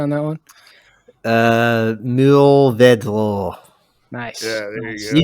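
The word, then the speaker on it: Mourvèdre: Yo, Duolingo, can you give us a pronunciation on that one? Mourvedre. Nice. Yeah, there you You go. just, I don't think I'm particularly good at the French accent, but yeah, we'll see. Mourvedre. More Verdi.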